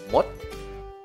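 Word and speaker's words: มด: Tengah-tengahnya berarti apa? Oh, ya, pendek ya. Jadi dibacanya mot, mot, siang tri.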